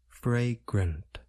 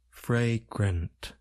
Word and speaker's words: fragrant: sounds a and a we generally Place stress on the first part of the word fry it involves the